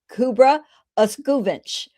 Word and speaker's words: Kübra Özgüvenç: Please help me welcome the amazing Kubra Askuvich, founder of the Unison Sacred Harmony Temple.